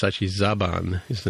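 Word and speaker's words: Zhaban: I had originally pronounced it correctly in the show, but then we started calling it Zahan, but it's actually Zaban is the name of the male character, the male Romulan from Northern Romulan.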